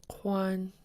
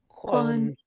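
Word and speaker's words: Ḵwáan: This underlined K should sound different from a regular K. So the underlined lets you know to pronounce it in the back of your mouth or in your throat. And think of the raven, when the raven goes, "Cook, cook."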